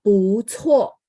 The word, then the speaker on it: 不错: Jadi itu kenapa baca bu cuo ada angin. C ya, C termasuk grup di situ. Sehingga bacanya ada angin ya.